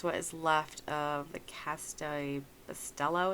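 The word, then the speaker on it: Café Bustelo: And I think, don't quote me, but I think that is what is left of the Cafe Bustelo. Is that how you say it? Cafe Bustelo. That's it.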